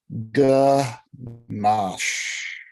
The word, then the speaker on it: ganache: Ganache. It is mandatory to stretch out the SH sound at the end of the word.